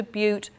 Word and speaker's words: Butte: another painting from yellow stone this is soda Butte Creek I have to think before I say